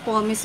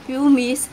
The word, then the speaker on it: pumice: Pero totoong pronounce talaga dun is pomace guys. Tingnan nyo sa YouTube. Kaya huwag nyo akong tawanan guys kung ang lagi kong binabanggit dito sa ating video ay pumice.